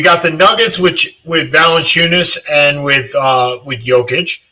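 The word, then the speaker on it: Valančiūnas: I very little presume very little is Valenunis, that's how you pronounce his name.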